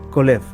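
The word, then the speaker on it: כָּלֵב: corazón Audaz o valiente en hebreo se pronuncia colef su su el sufijo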